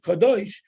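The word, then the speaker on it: קדוש: Even though we pronounce it Kadosh, we don't have the Vav after the Dalet, so that you can also sort of read it as Kodesh.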